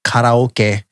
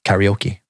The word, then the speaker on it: karaoke: And it is pronounced karaoke in the Japanese way.